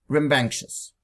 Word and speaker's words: rambunctious: Rambunctious. Шумный, буйный. Читается как рем, банк, шиз. С ударением на банк.